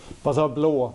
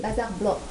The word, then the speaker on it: Bazar Blå: Bazar Blå in Swedish. Blå. Yeah, Blå. D'accord. The Swedish pronunciation. C'est la prononciation suédoise, donc c'est Bazar Blå.